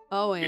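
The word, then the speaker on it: Eoghan: his name is owen owens and spelled really strangely it's pronounced owen you ignore the the e in the g it's the irish spelling so very irish all right i'm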